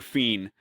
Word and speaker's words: Fien: Is it Fine or Fiend? Fiend, fiend.